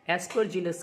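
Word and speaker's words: Aspergillus: Pronunciation थोड़ा सा ध्यान से समझिए, एस्परजिलस कहते हैं इसको।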